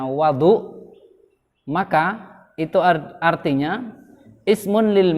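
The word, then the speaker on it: وَضوء: Wudu itu bisa dibaca fathah wawunya, bisa dibaca dhammah wawunya. Nah, kalau dibaca fathah berarti bacanya wadu, maka itu artinya ismun lil ma'i.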